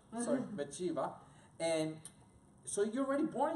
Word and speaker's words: Bathsheba: Is that how you pronounce it? Bathsheba. Sorry, Bathsheba.